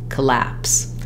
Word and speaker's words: collapse: sounds correct is by starting on the stress syllable laps then add your first unstressed syllable back that sounds like lapse collapse sometimes I even write it like this collapse with no vowel here so you can really think about that first part being short when we see the